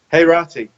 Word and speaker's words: Heirati: Thank you for How do you pronounce the last name? Sasan, I got it. Heirati. Heirati, okay.